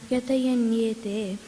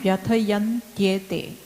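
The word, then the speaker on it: व्यथयन्त्येते: Yam hina vyatayanyete So it purusham. is yam hina vyathayantyete. Okay, so don't miss those syllables.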